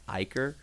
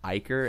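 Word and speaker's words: Ichor: One Tap add to generic a it's Iker I found this out by the way wow no it's it comes from the Greek language I I think I was told it's Iker so I've been saying it wrong this whole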